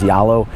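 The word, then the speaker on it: Zalo: app that is spelled zollow z-a-l-o but it's pronounced here as yalo it's the app that most people use for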